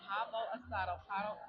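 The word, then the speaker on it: pavo asado: So, um, I just ordered the pavo a I want to make sure I say it right. It is the pabo asado.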